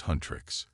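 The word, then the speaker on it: HUNTR/X: Fast forward to 21st century Seoul and K-pop superstars Hunter/X, pronounced Huntrix, aka Rumi the singer,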